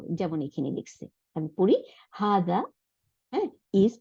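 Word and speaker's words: هٰذَا: এরপরে দেখি আমি নোটের মধ্যে আর কি লিখছে হা জবর জা আলিফ জবর উচ্চারণটা কি হবে হাজা হাজা তাই না এরকম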